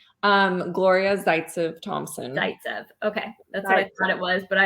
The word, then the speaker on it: Zaytsev: clever enough no but what how do you pronounce your name um gloria zaitsev thompson okay that's what i thought it was